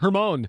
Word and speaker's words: Hermon: going to talk about Mount Hermon or Hermon I just looked up the pronunciation mount hermone next month on iron and